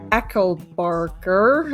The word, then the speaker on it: Echelbarger: surprising but today we are here by margaret ecklebarker and i'm not pronouncing that correctly by any stretch to the